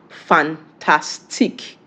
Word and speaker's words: fantastique: How is it pronounced in French? Fantastique in French.